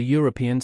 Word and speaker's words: European: And finally, a European country because a European starts with a EO sound, which is a consonant sound.